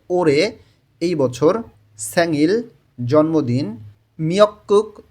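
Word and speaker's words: 올해: ওরে এই বছর দেখেন রিউল বাচ্চিমের পরে যখন হিউক থাকে তখন র এর উচ্চারণটা জোরালো হয় এবং হ এর উচ্চারণটা হয় না বললেই চলে এখানে উচ্চারণটা হয়ে যাবে ওরে এই বছর স্যাঙ্গিল জন্মদিন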